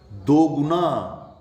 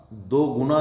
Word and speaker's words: दुगुना: दो गुना, दो गुना नहीं होगा, दुगुना, दुगुना, दुगुना, कहते धन दुगुना होगा, धन दोगुना नहीं, दुगुना।